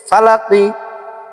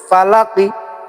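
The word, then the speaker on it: فَلَقِ: এক পেশকে হরকত বলে, আর হরকত হলে তাড়াতাড়ি করে বলতে হয়, যেমন ফালাকি।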